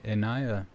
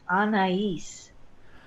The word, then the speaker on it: Anaiis: we are with a Ania am i pronouncing that correctly well I'm gonna pronounce it for you please it's Anais Anees on east there's three syllables there okay so this is